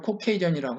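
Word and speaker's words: Caucasian: 사는 사람들을 코카서스인이라고 하는데 영어 발음으로 코케이전이라고 하거든요.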